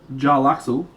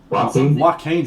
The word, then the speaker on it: Joaquin: it's like oh no the jay silence that throws me joel axel no no it's like i think his last name is phoenix joaquin phoenix hey lily what's going